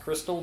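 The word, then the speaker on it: Xtal: the first track stall which is apparently supposed to be pronounced crystal but i refuse to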